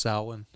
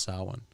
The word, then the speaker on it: Samhain: looked past bud's inner oh samhain it's actually pronounced wrong it's actually pronounced salon really yeah interesting they were saying it wrong